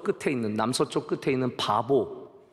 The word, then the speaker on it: 파포스: 제가 구브로 키프로스에 갔을 때 동쪽 끝, 지금 튀르키예 영에서 시작해서 서쪽 끝에 있는, 남서쪽 끝에 있는 바보, 발음이 바보예요 여러분, 파포스라고 하는 그 도시까지 가게 되었습니다.